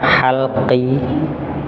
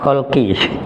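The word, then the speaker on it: حلقي: maka jenisnya disebut idhar halqi. Halqi, bukan kholqi. Kalau kholqi, kholqun makhluk atau penciptaan. Kalau ha pakai ha, tenggorokan. Nah, jadi hanya beda titik, maknanya sudah berbeda.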